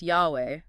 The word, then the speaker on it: Yahweh: Potter spends a lot of time on the tetetrogrammaton, the four-letter name of God, YHW, usually pronounced Yahweh or Jehovah.